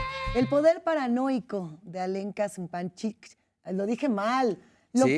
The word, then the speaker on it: Zupančič: sea, se escribe Zupancic. Y se pronuncia Zupančič. A ver. No, pues ya lo dije ¿Quién mal. sabe? Ya la vergüenza me Zupančic.